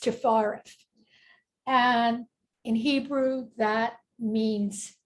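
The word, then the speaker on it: Tiphareth: going to go to number six which is pronounced stefara and in Hebrew that means Beauty and this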